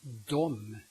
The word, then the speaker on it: dem: Then it's the de and the dem, which means they and them respectively. Both of them are pronounced dom, in the major part of Sweden.